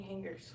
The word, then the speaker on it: hanger: I don't have any hangers for. I need like 8 or 9 hangers. Hanger. She said hanger. That's how you say it. No, it's not. It's hang-er. You already said hang. H-A-N-G is hang.